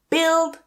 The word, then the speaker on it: build: So not build or building, but build building. Remove that U.